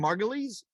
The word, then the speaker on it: Margulies: josh in and um and how do you pronounce his last name margulies yeah that's correct god oh okay correctly yeah